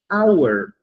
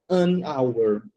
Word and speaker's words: hour: Então o H ele é pronunciável, mas nessa palavra aqui a gente pronuncia our. Tá vendo que o H não tem som? O Por causa disso, João, a gente vai falar an hour.